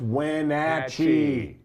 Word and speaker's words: Wenatchee: you moved where my dad my dad it's pronounced Wenatchee for crying out loud but you know and